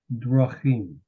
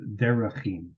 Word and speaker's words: drachim: That schwa is almost silent. Drachim. Okay? It's the same root as derek, which means a path, but drachim are paths. And so for the sake of pronunciation, we drop the S sound and replace it with the schwa, which makes it drachim instead of derachim.